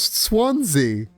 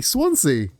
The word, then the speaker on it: Swansea: Oh, I don't think Swansea could be sw how how could you mispronounce Swansea? You pronounce swan like swan and sea like sea. Swansea you put too much s on it.